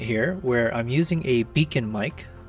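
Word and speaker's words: Beacn: I've got a predicament here where I'm using a beacon mic. B E A C N mic is how you spell it.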